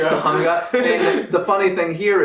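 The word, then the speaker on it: Tujunga: yes and it's pronounced I think Judy calls it Tanga and he's like it's pronounced T it's Tunga and the funny thing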